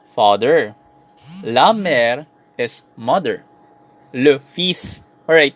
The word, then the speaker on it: le fils: Le fils. Alright, take note ang basa dito is le fils. I know bakit pinopronounce natin yung S tapos hindi pinopronounce yung L.